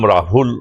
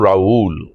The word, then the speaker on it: রাহুল: ভাবতো স্কুলে কে যেহেতু আমার নাম রাহুল ওরা প্রোনাউন্স করত রাউল যেটা একটা খুব পপুলার স্প্যানিশ নেম রাউ বলে আর রাহ নামটা